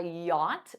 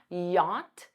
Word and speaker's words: yacht: enough to afford a yacht notice that pronunciation yacht yacht you can use wealthy